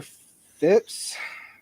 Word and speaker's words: Phipps: to early 1693 yep Governor Phipps Phipps that's how you say it Governor fence dissolved the